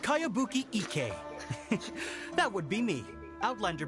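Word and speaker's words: Kayabuki Ikkei: By Kawabunga Iki. Yoniha, this is a really strange name. Who's this Kawabunga? It's pronounced Kayabuki Ike.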